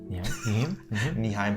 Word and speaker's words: Nyheim: Nyheim Hines.